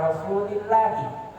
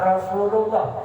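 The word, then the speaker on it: رسول الله: rasulillahi Sallallahu Alaihi Wasallam Bacanya rasulillahi jangan Rasulullah jangan Rasulullah karena jadi mudokilh jangan salah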